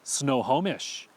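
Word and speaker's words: Snohomish: you a lob we know this county is pronounced snow homish so how would you pronounce this place easy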